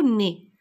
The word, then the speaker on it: nez: Il avait une tête de géant et un gros nez. Alors, regardez nez, comment je l'écris. N, alors E-Z, je le prononce E.